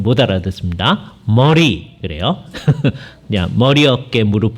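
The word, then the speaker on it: Murray: 데 어 구속 이라는 책이 있습니다 어 조한 머레이 라는 분이 있는데 우리나라에서 머레이 라고 번역 얻어 이제 발음을 하고요 우리 우리 식으로 바로 많은가요 이제 미국 사람들은 머레이 럼 못알아 듣습니다 머리 그래요 내가 머리 업계 무릎 발 할 때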